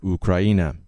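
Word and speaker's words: Україна: This week, I wrote 3 articles on geoengineering and 1 article on the Ukraine, or, as my Ukrainian friends pronounce it, Ukraina.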